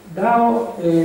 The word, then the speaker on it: Dao: Allora, questo Dao sarebbe una metà tra la D e la T, no? Tra la T di Domodossola e la T di Torino, una roba da via di mezzo, no?